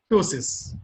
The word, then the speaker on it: ptosis: The paralysis of levator palpebrae superioris, ptosis. P is silent here.